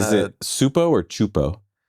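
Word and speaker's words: Csupo: Is it Supo or Chupo? Chupo. Chupo. Kleskey. Klaskki. Chupo. Chupo. Okay. That's how it's pronounced.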